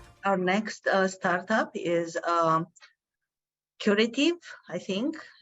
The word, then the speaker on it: Qritive: Is it Qritive? It is Qritive. Yes, perfect. Qritive.